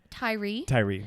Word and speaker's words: Tyre: Tyre, yeah.